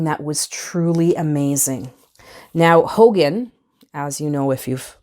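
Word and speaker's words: Haugen: name H Aug en so it's not pronounced Hogan technically but that is the the pronunciation that the name has has ended up with um it is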